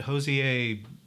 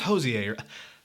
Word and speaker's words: Hozier: whole proto blue-eyed soul kind of thing that Hosea hosts here it is hozier god I mispronounce everything people just I mispronounce everything just